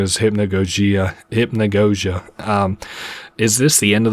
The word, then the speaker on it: Hypnagogia: Okay, you pronounce it Hypnagogia.